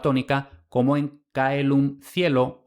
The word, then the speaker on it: caelum: Por supuesto, si lo pronunciamos con la pronunciación eclesiástica, el resultado es exactamente el mismo, chelo. Pero con un poco de lingüística histórica podemos justificar que lo que hay en latín es caelum, no coelum.